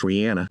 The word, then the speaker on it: Rihanna: the crowning moment right there Rihanna it's actually pronounced Rihanna big album she really did her own thing